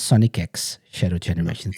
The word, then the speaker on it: Sonic X Shadow Generations: guys' thoughts on on the the game so Sonic X Shadow generations not cross not it's Sonic X Shadow generations that's how to properly pronounce it AR's like what the hell have